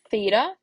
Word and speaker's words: theta: If you recall that, that this guy right here, this symbol, is theta, right? That's how we pronounce it.